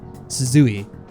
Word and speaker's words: Suzui: How do I pronounce her name again? Suzui.